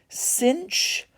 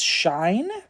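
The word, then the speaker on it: sinh: that they were pronounced cinch Kos and tanch which the Kos makes sense cinch doesn't cuz there's no C before the H um I've heard that in some countries they pronounce this as shine um I because there's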